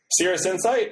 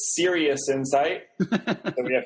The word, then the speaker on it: Cirrus Insight: insight is that correct Cirrus insight alternately pronounced sometimes as serious insight super serious about it or last year we got referred to as citrus insight and I'd be more